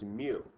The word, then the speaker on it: mu: So the Greek variable now is mu. Like rhymes with new, but it's mu.